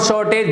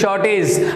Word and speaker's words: shortage: बट आज के बाद याद रखना, this is नॉट शॉर्टेज, this is shortage, this is shortage, this is shortage, this is not shortage, this is shortage।